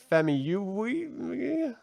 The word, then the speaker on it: Famuyiwa: It was directed by Rick Famuyiwa. Yeah. Yep. And that's exactly how it's pronounced.